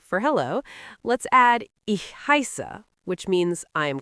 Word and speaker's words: heiße: The SZ in German, which looks a bit like a capital B, is actually pronounced like a sharp SS sound, like the SS in kiss. So it's ich heiße.